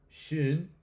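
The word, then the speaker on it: schön: Si yo digo shun, pues es bonito, estoy utilizando un blut, pero si digo sh es ya el adverbio.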